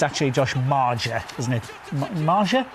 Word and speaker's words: Maja: Josh maer isn't it Maja is that how we pronouncing it Ma it's not major is it no vital win